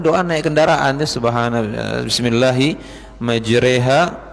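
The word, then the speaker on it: مجراها: Kemudian doa naik kendaraan, subhanallah, bismillahi majreha, bacanya majreha ya, tulisannya majroha. Tulisannya majroha, membacanya majreha. Karena dalam Quran kita itu, jadi Quran itu diturunkan oleh Allah Subhanahu wa taala Bapak Ibu, ada beberapa jenis bacaan, ada 20 jenis bacaan yang sahih. Salah satu bacaannya riwayat yang kita pelajari, riwayat Hafs an Asim ya. Riwayat Asim bacanya itu bismillahi majriha, pakai imalah.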